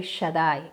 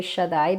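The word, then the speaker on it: שדי: Ese punto indica que el Dalet va duplicado. A nosotros eso nos significa en la pronunciación doble D. O sea, que no sería el Shaddai, sería el Shaddai con doble Dalet o doble D.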